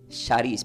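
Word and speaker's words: χάρις: significa entonces del griego la palabra gracia se pronuncia como Sharis para los que quieren anotar C de casa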